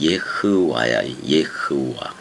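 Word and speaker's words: יהוה: 원래는 여호와의 정확한 발음은 예흐와야. 예흐와 이렇단 말이에요.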